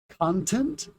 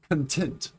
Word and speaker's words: content: The spelling is the exact same. We have the word content and the word content. The stress is different. Syllable stress in English is one of the more difficult things to learn because it's nuanced. It's something that you can't always guess just by looking at the word.